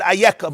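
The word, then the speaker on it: איכה: We pronounce it Ayeka, but when you look in the Sefer Torah, just Aleph, Yud, Chaf, Hey.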